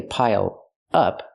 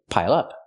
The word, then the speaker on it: pile up: Pronounce it like one word. Don't say pile up, say pile up.